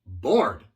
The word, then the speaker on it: bored: Luego tenemos bore y bored. Es el verbo aburrir con su participio. Aburrir, bore. Aburrido, bored. Igual, tienes que pronunciar la D. Si no, no es lo mismo.